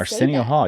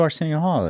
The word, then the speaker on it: Arsenio Hall: Dar Springer AR Arsen how do you say aren Hall you don't know who Arsenio Hall is it sounds really familiar uh he was